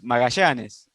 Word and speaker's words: Magallanes: Well, the name was Magallanes.